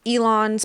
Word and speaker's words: Elon: somebody like elon musk it's elon there's no s on it there's no